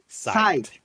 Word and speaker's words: Psyched: Yeah, it's kind of confusing because the way it's Confusing. spelled, the P is silent. Oh, P silence. We Yeah, pronounce yeah, the P is sight, silent. Psyched. sight, Good. and the CH also silent. Yes, Sight. right. Yeah, just Psyched. pronounce sight. Mm.